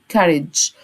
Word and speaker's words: courage: شجاع يعني courage، الجي هنا ننطقها الج، ماشي. courage.